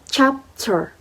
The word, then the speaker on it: chapter: Chapter, a 2 syllables word chapter. Which syllable do you think is stressed? Is the first syllable chapter.